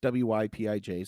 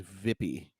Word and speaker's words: Wypij: So the J is silent. That makes no sense, but it's Wypij.